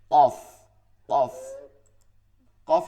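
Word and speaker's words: قاف: চিকনও হবে না মোটা হবে আবার ভারী হবে কফ কফ কফ আছে না হরুফুল ইসতেলার মধ্যে খয়াইন কফ কফ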